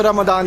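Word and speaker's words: رمضان: मतलब अगर सही उच्चारण में जाइए तो वो रमदान ही है। मतलब अरबी में जो जिस तरीके से लिखा जाता है उसमें एक लेटर है दौद, जो इंडिया पहुंचते पहुंचते वो जाद हो गया उसके पीछे, और वो दौद ही है।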